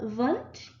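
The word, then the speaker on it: Wundt: that in 1879 wilhelm vunt used german so you don't pronounce the ws or you uh pronounce them with the v sound instead of the w sound um so in 1879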